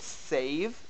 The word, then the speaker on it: save: This rule is supposed to also apply for A's. If we look at save, it follows the rule. We have a long a sound before the v and the e that stretches it out. But if we look at have, we have a short a sound.